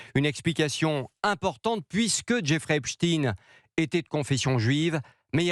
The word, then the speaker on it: Epstein: élève de 5e, c'est qu'en anglais Epstein se prononce Epstein.